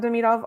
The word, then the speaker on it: Demidov: Most Russian names, if they're 3 syllables, the emphasis is on the middle syllable. Yeah. It's not Demidov, it's Demidov.